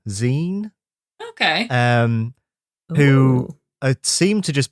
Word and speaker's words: XEEN: It's XEEN, Zine.